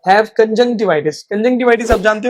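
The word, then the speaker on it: conjunctivitis: To pronounce this word कंजक्टिवाइटिस। तो मेरे कंजक्टिवाइटिस हो गया है। I have got कंजवािटिस। I have got कंजक्टिवाइटिस।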